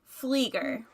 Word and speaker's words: Pflieger: you say your name flieger flieger is it it's got a silent p like in bath yeah you you know if